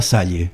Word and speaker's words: Salle: De la Salle, si es que uno lo va a pronunciar en francés. Así, Salle es. Sí, Salle. Salle Sí. Es sal. Sal es la sala en francés.